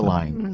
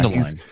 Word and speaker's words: Mundelein: Is that the way you pronounce it? Mundelein. Yeah, Mundelein.